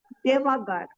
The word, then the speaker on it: devagar: Podes falar mais devagar. Devagar. Devagar. See, the word devagar is ends with an R, so it is stressed on the last syllable.